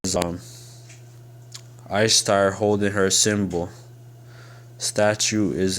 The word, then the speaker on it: Ishtar: that they're under man you know says um i start holding her symbol statue is at the vera museum i start says i star pronunciation istar is the most mesopotamian east semitic